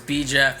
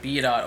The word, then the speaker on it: BdotJeff: it's just j cole it was supposed to be b jeff but um the way you spell my name is b dot jeff so i would always say my name is b jeff but it's spelled b dot jeff and then so people start calling me b dot over and over again